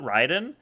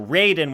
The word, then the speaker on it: Raiden: I've heard someone say Raiden and not Ryden. Um, well, if you go with like the actual Japanese pronunciation, it's Ryden.